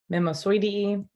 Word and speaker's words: Mimosoideae: Subfamilies end in OIDEAE, pronounced oidee. Mimosoideae, Acacia.